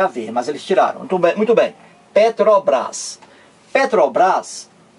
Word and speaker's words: Petrobras: estou perguntando tudo ó eu digo Petrobras Petrobras eu não digo eu não pronuncio cada letra separadamente não eu não digo